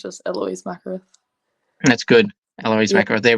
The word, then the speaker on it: Mackereth: Sometimes they pronounce like Mackereth, stuff like that. But like it's just Eloise Mackereth.